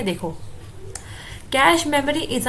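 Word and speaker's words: cache: कम time में वो कैश memory को एक्सेस कर लेता है। ठीक है, तो कैश मेमोरी को कई लोग कैशे मेमोरी भी कहते हैं, लेकिन जो इसकी करेक्ट प्रोनाउंसिएशन है वो है कैश मेमोरी में।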